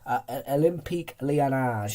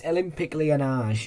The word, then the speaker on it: Olympique Lyonnais: Olympique Lyonnais.